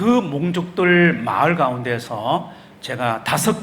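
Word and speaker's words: Hmong: 가지고 그 지역에 있는 몽족 그 여기 아까 그 베트남 선교사님 흐몽이라고 그랬는데 여기서는 몽이라 그럽니다. 그래서 이제 HM잖아요. 근데 H가 흐몽인데 여기서는 발음을 안 해요. 그래서 몽입니다. 몽.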